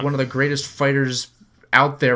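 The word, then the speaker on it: FighterZ: Like Fighter Z is like one of the greatest fighters out there, right? Like it's freaking gorgeous. It's pronounced actually fighters.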